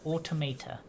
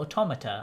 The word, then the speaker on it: Automata: Yeah, so this week's Kickstarter spotlight is a game called Project Automata, or Automata, I think is how they pronounce it in the video.